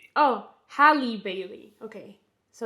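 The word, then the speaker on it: Halle Bailey: Oh hali Bailey.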